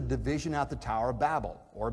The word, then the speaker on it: Babel: and after the division at the tower of babel or babel if you prefer that pronunciation marvin luminous marvin lubin out in in